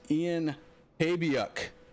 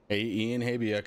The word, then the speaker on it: Ian Habiuk: So Ian is Ian Habiuk. Ian Habiuk.